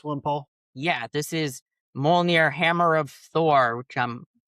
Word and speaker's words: Mjolnir: Yeah, this is Mjolnir Hammer of Thor, which I'm horribly mispronouncing. It's Mjolnir, 3 and yeah.